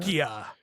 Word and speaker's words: Czechia: Czechia.